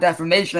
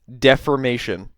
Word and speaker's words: defamation: And besides, it's not defamation if it's the truth and I have evidence to back it up. Mispronunciation number 2. Deformation.